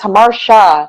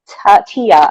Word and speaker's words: hamartia: my sister corrected me she was like it's hamar shah not tia i'm like okay okay